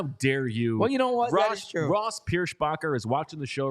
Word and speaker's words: Pierschbacher: uh he is tough tough name to pronounce Pier spacher you got because you got to get the sh in there the sh yes Ross no s no h sound but then you got